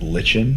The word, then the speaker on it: lichen: The first time I read it, I pronounced it lichen cuz that means chow. You can pronounce it. Yeah. But now that it's pronounced Lykan, every time I hear you, when I heard